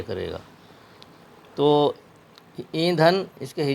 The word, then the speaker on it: ایندھن: نون زبر دھن، ایندھن۔ اس کو ہم نے اگر نون کو ساکن بولا تو تلفظ میں گڑبڑی ہوگی۔ صحیح طریقہ اس کا ہے الف یا زیر ای نون غنہ دھے نون زبر دھن، ایندھن۔ ایندھن غنہ ہے، اس میں غنہ کی آواز آئے گی اور آخر میں نون ہے۔ دوسرا ہمارا لفظ ہے